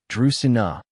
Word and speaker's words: Dracaena: Dina is pronounced Dusina with the emphasis on the first syllable.